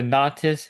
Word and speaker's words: Nautis: I'm just reading it off how it's spelled. It's the Nautis VSF pump.